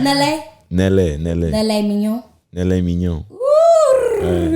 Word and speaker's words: Nellé: How you say my name? Nelle. It's the accent, Mr. Nelle.